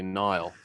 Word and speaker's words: Niall: that actually because i i pronounced my name neil too it's the irish who say nile and the scots say neil it's the same name